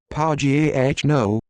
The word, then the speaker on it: Pagano: daniel pagano pronounced pau g h no born 1953 is a